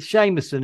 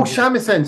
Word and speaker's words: shamisen: But also, I don't know how you pronounce it. Seamuson, is it? Or shamisen, the three string. Oh, shamisen, sorry. Shamisen. Shamisen, yeah. It sounds so Irish.